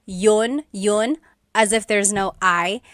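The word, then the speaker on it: iyon: You might hear me saying yun yun as if there's no I and that's commonly how it's pronounced. You might hear people say, but usually the letter I sound is dropped.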